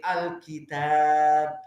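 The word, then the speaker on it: الكتاب: Maka dibacanya Alkitab, bukan Alkitab. Maknanya alifnya seperti qala. Tapi Alkitab, tidak kitab. Sampai monyong mulutnya, tidak.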